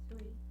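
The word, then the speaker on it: 岁: she, liu, sui, né? Sui, Isso aí. Como se fosse ei. Aham. sui, Isso aí. Uhum. É ei, tipo, é e o i pra gente, né? É esse som.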